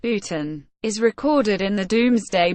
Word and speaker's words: Boughton: has now been demolished sportin bolton pronounced Putin is recorded in the